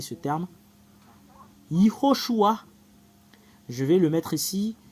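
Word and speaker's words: יהושע: Selon les Juifs, le fait de le prononcer, c'est Yehoshua.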